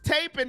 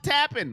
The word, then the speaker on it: Tapin: All right, Tapin, thank you for letting me know it's taping, not tapping. Like you're tapping out.